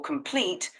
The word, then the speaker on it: complete: o sound also for complete put a little more stress on the second syllable otherwise you're doing great